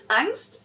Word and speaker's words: Angst: Angst. Yep. This one is very similar to the German one, but it's not 100% the same. Angst capitalized in German and with the German ah basically just means fear